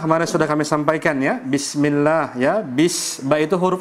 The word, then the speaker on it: bismillah: bukan Bismillahirrahmanirrahim gitu tapi harus jelas bnya jelas sinnya jelas karena Sin juga itu